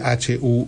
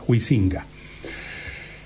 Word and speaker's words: Huizinga: Se escribe Huizinga, Huizinga.